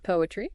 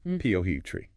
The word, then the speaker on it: poetry: Poetry. 3 syllables. Poetry. Not poetry.